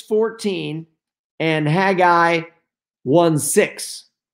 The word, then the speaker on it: Haggai: micah 6 14 and haggai one six some people like to say haggy i but it's h-a-g-g-a-i so however people want to pronounce that so why did i